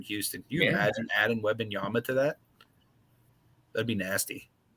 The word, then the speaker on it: Wembanyama: The how do you pronounce his name again? The Wembanyama, whatever, him? Wembanyama.